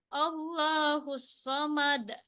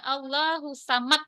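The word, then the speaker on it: ٱللَّهُ ٱلصَّمَدُ: Qul huwallahu Ahad ya allahus Somad tapi kalau kita bacanya allahusamad ah itu salah karena pantulan qqalahnya gak ada ah kalau kalau kubra itu pantulannya di akhir itu tebal ya allahusamad Nah jelas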